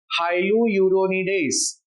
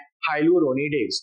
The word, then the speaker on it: हाइलुरोनिडेज: पहला है हाइलुरोनिडेज। Class मेरे साथ प्रोनाउंस कीजिए, हाइलुरोनिडेज।